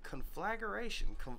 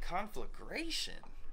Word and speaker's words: conflagration: fire which destroys a great deal is there pronunciation on there property conf flager it's got to be conf flager right the confl no the conflagration conflagration conflagration yeah that's how you say it an